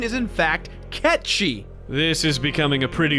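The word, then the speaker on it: Cait Sith: it gets really annoying dude the game calls Kate sit Kate's it but the correct pronunciation is in fact catchy this is becoming a pretty big mess Reeve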